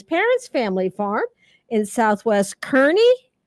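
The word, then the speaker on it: Kearny: up on his parents' family farm in Southwest Kernney. Correct. You pronounced it right.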